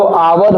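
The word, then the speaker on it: hour: लोग का गलत है आवर जो होता है ना उसका प्रोनंसिएशन जब उच्चारण करते हैं तो ओ से करते हैं आवर एच साइलेंट रहता है तो आवर हो गया ऑनेस्ट हो गया इन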